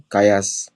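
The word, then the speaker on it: Kallas: क्या नाम है कातसा कायास कात्या कायास शी इस पाकिस्तान पाकिस्तान काया कायास इज a Dutch sir name उनसे कालास नहीं बोल रहा हूं। कायास बोल रहा हूं।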